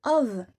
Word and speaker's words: of: Ensuite, le of. Et oui, ça se prononce of, comme s'il y avait un V. Même parfois, ça se prononce of. Sinon, on comprend off, O2F, qui veut dire autre chose.